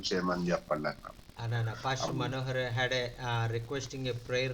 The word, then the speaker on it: Manohar: Manohar.